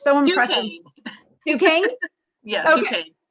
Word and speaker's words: Duquesne: I don't even know how to pronounce it. It's so impressive. Duquesne? Yes, okay. Duquesne.